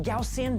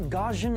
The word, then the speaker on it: Gaussian: And yes, it's pronounced Gaussian, not gajin.